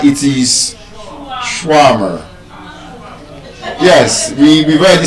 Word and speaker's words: shawarma: One of such words is that it's not shawarma, it is shawarma.